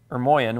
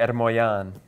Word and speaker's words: Ermoian: My last name is Ermoian, which is an Armenian last name. They wouldn't pronounce it that way, but in the West, that's how we say it.